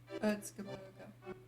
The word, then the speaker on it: Erzgebirge: Oh, I want to hear how they pronounce that. Erzgebirge.